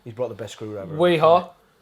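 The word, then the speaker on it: Wera: Weha. The main reason it rhymes with my company motto, which is Yeehaw.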